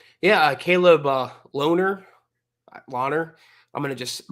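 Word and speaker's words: Lohner: Uh Caleb, uh Loner. Loner. I'm going to just No, it's loner. It's like you're a loner. You don't hang out with anybody. You're a loner. That's exactly how you say it.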